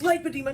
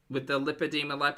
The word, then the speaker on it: lipedema: It's lipedema, not lipedema.